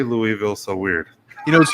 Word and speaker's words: Louisville: i say it the right way it is louisville i was just i just had to